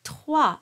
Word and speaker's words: trois: So the word trois is pronounced slightly darker than how you would pronounce cadet.